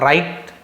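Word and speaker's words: write: फिर डब्लू सेरेंट डब्लू आर एक साथ हो तो डब्लू सेरेंट होता है जैसे राइट डब्लू आर आई टी राइट होता है लिखना राइट रंग डब सट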